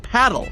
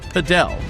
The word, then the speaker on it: padel: CNBC Sport the podcast, it's pronounced paddle, not padel, and we've got the